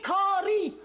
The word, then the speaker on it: Caries: Avec l'accent, c'est la deuxième syllabe. Des Caries.